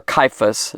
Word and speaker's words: Caiaphas: of the uh the caiaphas caiaphas or kaifus is another way of pronouncing it a house so